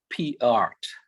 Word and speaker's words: Peart: Our speaker is Miss Allison Peart, P-E-A-R-T. That's the way I pronounce it.